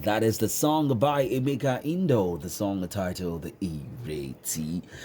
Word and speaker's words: Emeka: So the right pronunciation of my name is Emeke. Emeke, Emeke, Emeke.